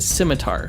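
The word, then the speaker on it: psimitar: He typically also carries what's called a scimitar, spelled with a P.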